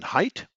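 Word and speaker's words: Haidt: perhaps I would pick the social psychologist Jonathan height his surname is spelled h-a-i-d-t I find his writings and Analysis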